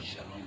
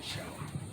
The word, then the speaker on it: shalom: Shalom, shalom. Y recuerde, hermanos hispanos, gloria a Dios, no es shalom, sino que es shalom, amén. SH, Shalom.